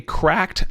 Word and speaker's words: CRKD: controller is connected okay so there is a cracked app CKD is how you find it that's how that's spelled I'm going to install it on my